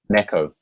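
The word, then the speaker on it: 猫: say again how do you say a cat Neco Neco Neco so how do you say that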